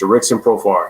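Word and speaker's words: Jurickson Profar: how i met uh i knew it was the rixion profile i just forgot to say his name but it's jurixen profile he is batting eighth and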